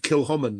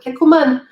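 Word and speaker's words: Kilchoman: And when I heard that in Norway, they can't pronounce the name Kilhoman. They call it Kikkoman.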